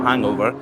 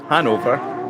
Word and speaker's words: Hanover: pronounced that wrong team from hang Hanover not hangover Hanover they maybe have a